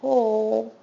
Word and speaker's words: whole: This is a long O sound with a magic E at the end, but notice that the W is also silent. I ate the whole watermelon.